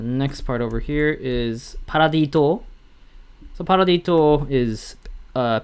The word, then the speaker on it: Paradis: called paradise island or a lot of people pronounce it as paradise island and that's not necessarily wrong either because the marlians they